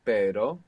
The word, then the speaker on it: pero: and the double R, just as we saw in pero, meaning but, and perro, meaning dog.